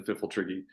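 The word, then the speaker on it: Pfifltriggi: I definitely am in the firm camp that is a silent P at the beginning of the Fiffletriggi.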